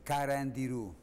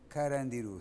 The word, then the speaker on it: Carandiru: The name is Carandiru. Carandiru. C-A. Carandiru. Very easy to pronounce, but there is no translation.